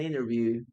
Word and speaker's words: interview: En algunos casos, algunos pronuncian como interview sin la T, ¿no? Oh, today I have an interview. I have an interview today. Si quieres también puedes pronunciar la T, no hay problema.